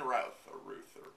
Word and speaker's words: Routh: old for this Brandon Routh yeah yeah yeah never says I think this more and and of course no they had to age it is rough it's rough it rhymes with mouth Ruth is more interesting